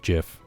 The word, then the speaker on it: GIF: that i saw was it's pronounced jiff oh yes yeah and